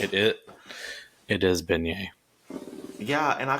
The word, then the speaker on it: beignet: things correctly and so I called these desserts bayet I said oh have you had their bayet okay I can see that I mean I have one to go ahead and go ahead and finish but I have one for you too bay you mispronounce something you know like the Revolutionary War Bay Nets I don't get it Revolutionary War a bayet is a gun I don't know that but beignet is actually what it's called it it